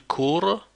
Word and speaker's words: court: Je cours, tu cours, il court, same pronunciation.